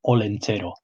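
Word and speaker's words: Olentzero: That's pronounced Olentero.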